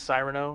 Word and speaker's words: Cyrano: Cyrano Jones is how you say it? It's Cyrano.